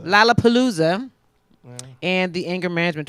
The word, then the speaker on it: Lollapalooza: Is that how you pronounce it? Lollapalooza. Lollapalooza.